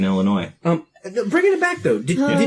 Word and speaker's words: Illinois: There's no noise in Illinois.